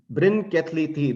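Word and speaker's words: Bryn Celli Ddu: me now take you to wales in britain brin kathleethi this is how this is pronounced this is supposed to be a burial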